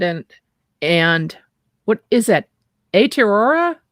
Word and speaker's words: Aotearoa: in new zealand and and what is that a terror how do you pronounce that aotearoa so that's the maori name for new zealand